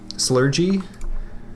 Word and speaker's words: Slurgi: I originally decided the pronunciation of my name long ago was Slurgy, like with a J sound, and a StarCraft caster,